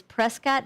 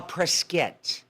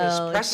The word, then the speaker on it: Prescott: And then eight is Prescott Valley, Arizona. Oh yeah, but you know what the locals they don't call it Prescott. They call prescat. Why? That's how they pronounce it. Prescuit.